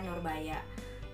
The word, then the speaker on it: Nurbaya: Terus Norbaja, dibaca Nurbaya dan Kang Jalil.